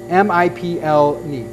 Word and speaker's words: Miplni: Miplni, it's one of these things where they didn't put enough syllables in, or vowels in. M-I-P-L-N-I.